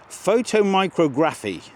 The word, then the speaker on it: photomicrography: it's called something else, and I'll try and pronounce it for you. Okay. Photomicrography.